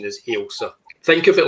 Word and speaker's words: Ailsa: the correct pronunciation is Elsa think of it like a a flagging of a you knowa I can I can think of thatsa yeah it's a Scottish name Elsa dark and I